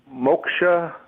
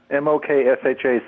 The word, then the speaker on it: Moksha: so i'm good well moksha mo k sha with a nose moksha moksha well in a